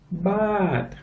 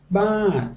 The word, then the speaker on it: baht: Baht. What kind of money do we use here? Baht. So you come over here, what is it? Baht. And the English? Baht.